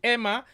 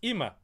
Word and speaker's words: Imma: wrong emma emma emma is it ima right it's imma okay all right so